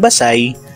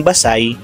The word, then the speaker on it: Basay: kasaysayan ang bayan ng Basay ay naitatag noong 1591 ang pangalan ng bayan ay binibigkas ng Basay at hindi ba say ang maling pagbigkas nito